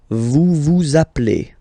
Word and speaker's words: vous appelez: Okay, then vous vous appelez. Vous vous appelez. Okay, so you can hear we put the little link again here.